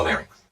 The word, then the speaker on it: larynx: Please pay special attention to the pronunciations of the pharynx and the larynx. Think about ice skating rinks or roller skating rinks.